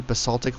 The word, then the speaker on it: basalt: Basalt, or basalt, however you pronounce it, is a common volcanic rock.